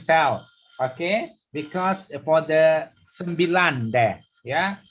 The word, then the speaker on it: sembilan: Okay, because for the sembilan there, yeah, you have to pronounce sembilan. Your tongue you put at the top. Lan. Lang. Sembilan.